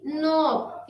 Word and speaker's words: knob: KNOB, नॉब, K को छोड़ दिया।